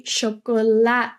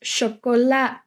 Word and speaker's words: chocolade: Third word is chocolade. But we often, in between language, so when we're speaking with Dutchies, just say chocolat. So we're not pronouncing chocolade, but just chocolat.